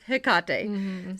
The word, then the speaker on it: Hecate: read that too in the original way is hekate so my default is probably going to be Hecate so I'm sorry if we're going to mess